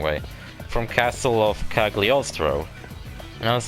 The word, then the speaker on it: Cagliostro: castle of coughly ostrow i finally learned how to pronounce that cagliostro i used to say like hello eustro or some [ __